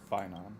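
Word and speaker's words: Phainon: off only get yourself into trouble his name pronounced finon okay Tri he even ruined his weapon now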